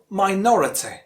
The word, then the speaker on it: minority: Third one, minority.